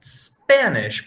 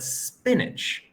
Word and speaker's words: spinach: vegetable very close chem not spanish but spinach very very close spinach not spanish okay nice job good